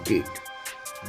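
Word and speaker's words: debt: होती है जैसे हम डी ई बी टी की बात करते हैं this is डेट डी ओ यू बी T this is डाउट तो इसमें ब की साउंड साइलेंट हो जाती है तो यहां पर हमने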